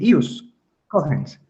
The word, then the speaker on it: ius cogens: lo del ius cogens ss se pronuncia bien así el ius cogens aunque verdad que son